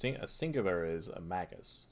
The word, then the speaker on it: Magus: a singular is a Magus right or a mage Mages no it's Magus it would be a hard G mag yeah so why